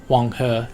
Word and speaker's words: Huanghe: The Yellow or Huanghe, as it's pronounced in China.